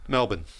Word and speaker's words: Melbourne: Melbourne. Yeah, you don't. You don't put the R in there.